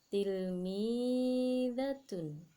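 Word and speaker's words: تلميذة: Kemudian untuk yang muannas atau yang perempuan, tilmidatun. Bunyinya tilmidatun, artinya murid perempuan. Nah, begitu anak-anak untuk cara membacanya.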